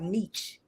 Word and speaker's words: niche: never had a niche Niche Niche which one is it y'all I like meech Niche Mitch it's niche yeah niches well I mean